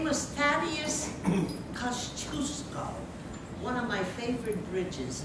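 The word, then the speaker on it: Kościuszko: His name was Thaddeus Kosciuszko, one of my favorite bridges in Brooklyn, going under construction now. Anyway, Kosciuszko, which is another way to pronounce his name, he was a rebel.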